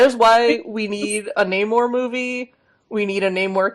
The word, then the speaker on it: Namor: It's like how I never used to know how Namor's name was supposed to be pronounced. Yeah. I thought his That's, name was Namor, but it's Namor with a I long think A.